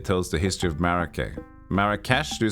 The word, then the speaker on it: Marrakesh: Marrakesh?